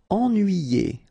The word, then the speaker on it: ennuyé: Ennuyé. Okay, so first en, then nuit, then yé.